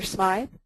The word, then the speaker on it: Smyth: Smith or Smythe? I think the locals call it Smith, but I've been corrected by the best.